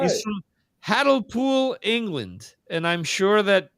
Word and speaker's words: Hartlepool: He's from Hartlepool, England.